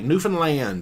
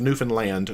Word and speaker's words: Newfoundland: Uh, engineer, how did you like Newfoundland? Well, I learned that it's pronounced Newfoundland, not Newfoundland.